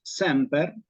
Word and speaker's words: semper: Quizás prestar atención a la palabra bisílaba semper, porque es bisílaba, palabra bisílaba, siempre va acentuada en la penúltima, no hay acentuación aguda en latín, ¿sí?